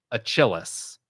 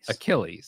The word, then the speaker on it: Achilles: so he guessed mythological hero and then he's pronounced it achillis not correct obviously if you you have to get the correct pronunciation right so how would you correctly say that word Joe ailles Achilles so Achilles and that's where our Achilles fanatically